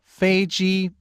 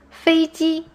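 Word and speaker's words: 飞机: my plane was late so feiji means airplane yes fiji both parts are in the first tone it means airplane and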